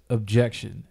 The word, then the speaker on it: OBJECKSHUN: creation, you can reach me at objection. It's spelled phonetically OBJECKSHUN.